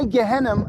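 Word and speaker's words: Gehenna: on in history or perhaps you're more familiar with it with a slightly different pronunciation yeah became associated with a horrific concept when we say gehennum we're referring to hell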